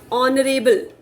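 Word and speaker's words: honour: ऑनरेबल, ओ की आवाज आई.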